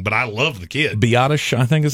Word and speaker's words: Biadasz: I just would, and look, Tyler Biadasz, or however you say his name, Mhm. I've always said it wrong, but I love the kid. Biadasz, I think is how they say it.